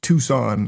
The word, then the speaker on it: Tucson: It's just Tucson.